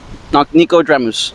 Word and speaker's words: Nicodremus: Nico. So Nico. Yeah. DRE like Dr. Dre. Okay. Dre. MUS. Okay. Nicodremus.